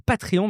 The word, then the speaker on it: Patreon: Alors, il faut que je m'entraîne à à dire Patreon parce que bon, en France, je prononce beaucoup de choses à la française. Je vais dire patrion maintenant.